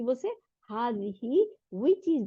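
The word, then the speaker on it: هذه: মহিলা ফ্যামিলিন মানে মহিলা ইট ইজ প্রোনাউন্স হাজিহি দেখেন বানানটা দেখেন এটার প্রোনাউন্সিয়েশন উচ্চারণটা কিরকম হবে হা আলিফ জবর তারপরে এক আলিফ টান দিতে হবে হার মধ্যে তাই না তারপরে যার নিচে জের হার নিচে জের হাদিহি but Alif is omitted in writing কিন্তু লেখার মধ্যে এই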